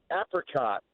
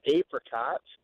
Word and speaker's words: apricot: Well, I'm going to have some toast, and I'm going to put apricot jam on it, not apricot.